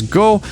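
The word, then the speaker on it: 五: 5 is said correctly as go, but then Wycliffe utterly blunders 6, which is pronounced roku, by saying no-go, which, as far as I can tell, is not even a word.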